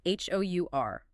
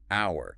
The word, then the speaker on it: our: Which makes it an exact acoustic twin of the possessive word hour, spelled O-U-R. Watch this loop. Hour. The class lasts for 1 hour. Hour. Now the possessive, hour.